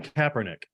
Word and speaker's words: Kaepernick: do you say his last name Kaepernick Colin Kaepernick Kaepernick he started it yeah well that was